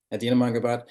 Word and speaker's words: Adina Mangubat: Is that correct pronunciation, Adina? Yes, it is. Adina Mangubat, who is AirMiners Accelerator Director.